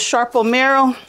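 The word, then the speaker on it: Sarpo Mira: And the last container is Sharpomira.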